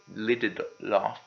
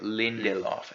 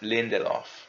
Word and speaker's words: Lindelof: and leftovers Damon Lydon deleted law I'm sorry Lindelof Lindelof yeah if you're watching